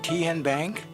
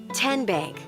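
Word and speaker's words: TN Bank: Kien Bank? Nope. Tin Bank? Uh-uh. So, what is it? Tenbank. 10 as in Tennessee. Right here where all our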